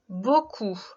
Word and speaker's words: beaucoup: On retrouve le son OU que tu connais bien. Et il faut se rappeler de la lettre P qui dans ce mot est muette. Le mot outil est donc le mot beaucoup.